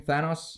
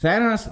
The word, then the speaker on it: Thanos: Is that how you pronounce his name? Thanos? Yeah, Thanos.